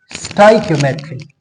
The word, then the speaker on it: stoichiometry: Point number first के इस word को आपने प्रोनाउंस कैसे करना है? So this is basically pronounce S स्टाइमेट्री। स्टाइकियोमेट्री।